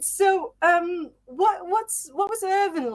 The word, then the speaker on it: Irvine: Or like posh people, Irvine. But no, Irvin. It's Irving, yeah. So, Yeah, you did it perfectly. That's great. Yeah. right. So, what was Irving like when you were growing up?